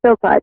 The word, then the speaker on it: Philpot: Philpot, so I said it right. Yes, it's Philpot.